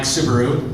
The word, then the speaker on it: Soubirous: My name is Soubirous. It's pronounced sort of like the car.